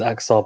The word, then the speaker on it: Axar: say the least is aksar patel or aksha but i leave and i should probably say his name properly because i know how to pronounce it properly akshay patel i'm just showing his